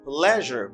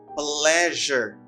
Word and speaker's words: pleasure: what gives problem to people pleasure it is pronounced as pleasure musa pleasure it's a pleasure it's plus the linking it's